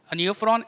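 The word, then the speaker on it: Nephron: आएगा इसमें ये देखो ये न्यू फ्रॉन है नेफ्रॉन नहीं है न्यू फ्रॉन तो वल्चर होता है ना मैंने स्पेलिंग देख लो क्या है एन ई ओ पी एच आर ओ एन और वो नेफ्रॉन क्या होता है एन ई पी एच आर ओ ए नेफ्रॉन एंड नेफ्रॉन new frown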